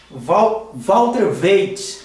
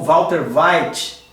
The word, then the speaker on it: Walter Veith: Então o primeiro senhor, ele se chama Walter Waite, ou Walter White. A pronúncia aí pode variar dependendo de quem esteja falando, que é esse vídeo aí, olha, da Amazing Discoveries, Mudando a Palavra, Dr.